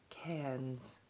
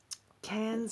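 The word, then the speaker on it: Cairns: tickets to cards or as the Aussies call it cans because none of the r's are pronounced generally with most words um cans is a very touristy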